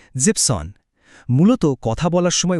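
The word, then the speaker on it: siebzehn: ঠিক একইভাবে 7 মানে জিবেন, কিন্তু 17 বলার সময় ওই শেষের ইএনটুকু বাদ পড়ে যায় আর শব্দটা হয় জিপসন।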